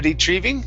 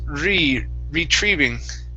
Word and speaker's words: retrieving: Here, make sure to give me a good R instead of a retrieving. It's retrieving. Retrieving.